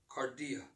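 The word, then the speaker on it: kardia: move forward amen in the greek heart is pronounced cardia the center and the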